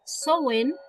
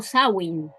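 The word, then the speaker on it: Samhain: Lo vamos a dejar aquí escrito para que sepan, pero en realidad se pronuncia sen o sawin.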